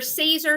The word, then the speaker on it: SISER: you guys don't know how to pronounce it it's caesar i just got that